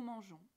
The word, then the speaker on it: mangeons: Mais on ne peut pas changer la prononciation en cours de conjugaison. Alors, pour respecter la prononciation « je », on ajoute un « e », tout simplement. Nous mangeons.